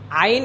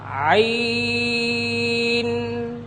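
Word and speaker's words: عين: ভাইজান আপনি লক্ষ্য করুন আইন বলার শেষে দুই ঠোঁট সাথে সাথে লেগে যাবে না আমার দিকে আপনারা সকলে লক্ষ্য করুন আইন যাতে করে দুই ঠোঁট বন্ধ না হয়ে যায় আইন এরকম যেন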